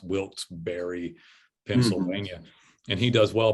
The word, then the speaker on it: Wilkes-Barre: in wilkes-barre pa uh i think it's e s b w-i-l-k-e-s-b-a r r e pronounced wilt berry pennsylvania and he does